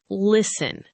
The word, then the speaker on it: listen: Think about the word listen. It has a letter T right in the middle. But we do not say the T. We just say listen. The T is completely silent.